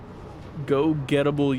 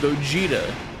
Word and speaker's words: Gogeta: with me oh well pronounce the name all wrong go gettable u90 oh gogeta gogeta blue okay to be fair i'm reading it phonetically not in the anime sense yeah gogeta blue90 that's